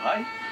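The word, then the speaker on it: Raï: Le stade du rail. Pourquoi? Parce que rail, d'abord en niçois, ça s'écrit R-A-I tréma. Le Y n'existant pas.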